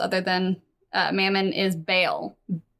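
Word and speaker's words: Bael: So, uh the most notable archdevil on Minauros other than uh Mammon is Baal.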